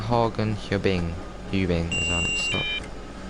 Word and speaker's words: Hagen: It's not Hagen, it's Hagen.